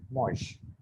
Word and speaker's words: mangent: So ill or el, mosh. ENT is not pronounced, so it will be just like mosh.